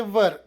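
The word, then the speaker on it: were: ನಡೆಯುತ್ತ ಇದ್ದ ಭೂತಕಾಲ helping verb ಗಳಏನು ವಾಸ್ ಮತ್ತೆ ವರ್ ಇದರ ಉಚ್ಚಾರ ವರ್ ಡಬ್ಲ್ಯೂಆರ್ ವೇರ್ ಅಲ್ಲ ವರ್ ಫಾರ್ಮುಲಾ ಏನು ಸಬ್ಜೆಕ್ಟ್ ಪ್ಲಸ್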